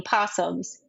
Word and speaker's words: opossum: the Australian ones became possums, and the American ones retained opossum, but a lot of people just colloquially say possum. Like a lot of people drop the O, which I do as